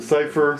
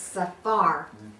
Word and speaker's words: Safar: Šafar. Schaffer. Šafar. Okay. Original is Šafar. Schaffer. Safar. We pronounce it Safer. Safer. Say. Actually, 90% of the time in U.S., they call us Safar.